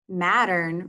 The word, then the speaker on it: Mattern: Mattern rhymes with pattern.